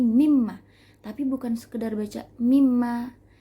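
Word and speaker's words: مِمَّا: misalkan kita kasih contoh mimma minus sama makan ada dua huruf tuh ada nun sukun bertemu dengan mim jadinya dia Idgham Bighunnah nah dibacanya digabungkan dua huruf menjadi satu Jadi mimma tapi bukan sekedar baca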